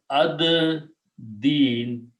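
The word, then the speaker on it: الدين: Al is, dal is a shamsi letter, so it kills the sound of lam, but it is pronounced as ad-deen. Okay, lam is not pronounced, and when you put al, one dhamma goes away.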